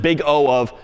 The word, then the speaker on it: big O: then some parenthesis and you pronounce it big O of such and such.